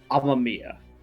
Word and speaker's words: Amamiya: Look it up real fast, Akimaya, just to make sure I don't fuck it up. Persona 5 Ren. Amamiya.